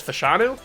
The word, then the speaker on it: Fashanu: know that already though fashanu or fash I've heard it two ways I don't know I trust bangle because bangal does a lot of pronunciation he knows how to pron pronounce team or pronounce names and he says fashanu so I'll I'll stick with fashanu so he goes to